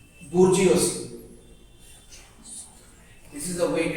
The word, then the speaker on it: bourgeoisie: I'm giving you the pronunciation. Bourgeoisie. This is the way it is pronounced. Bourgeoisie.